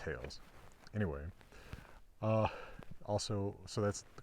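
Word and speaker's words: θεός: I guess the actual ancient Greek pronunciation is theos.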